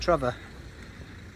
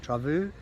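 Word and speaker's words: Trévoux: place called I call I'm calling it tror uh Trav travu t r a v o u x um lovely lovely place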